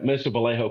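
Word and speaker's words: Mission Viejo: Jerry it is Mission Vallejo that's right yeah Mission Vallejo California and Mission Vallejo school high school where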